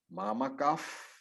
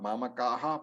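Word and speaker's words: मामकाः: Another chanting rule is that when the Visarga is followed by P, F, that particular class of alphabets, the Visarga turns into F. So it is Mamakaf, not Mamakaha Pandavaschaiva. It is Mamakaf Pandavaschaiva.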